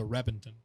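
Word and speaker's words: Reventón: really known for the reppington was an old uh it spelled like reventan but the v is pronounced like a b apparently in italy's which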